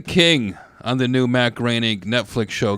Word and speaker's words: Groening: Got a twofer working for Groening. Rhymes with complaining.